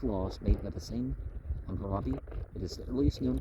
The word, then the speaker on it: Hammurabi: Hammurabi, pronounced Hammurabi, the founder of the first Babylonian Empire, is